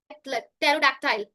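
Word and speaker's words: pterodactyl: तो पी का उच्चारण नहीं होता। जैसे कि यहां पर एक लिखा है साइकोलॉजी निमोनिया रिसीट टेरोडक्टाइल।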